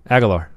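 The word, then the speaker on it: Agholor: Agalore.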